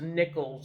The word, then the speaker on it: Nichols: um and yeah because her name is not nicole is actually pronounced nichols lisa nichols she's actually